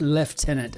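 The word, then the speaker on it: lieutenant: I was a first left tenant I think you pronounce that first left tenant combest just got back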